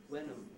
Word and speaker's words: when am: In other words, the word am was not pronounced am, not when am I, but wenam. Wenam, rhyming with venom, if you like, and of course the second vowel, weak vowel was back.